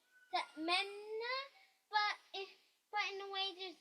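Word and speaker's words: تأمنا: recitation, in terms of how you can actually pronounce this particular ayah. The main one is Ta'manna.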